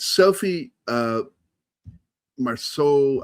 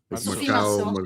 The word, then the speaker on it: Sophie Marceau: You've got Sophie Marceau. I don't know how to pronounce it. Sophie Marceau. Sophie Marceau.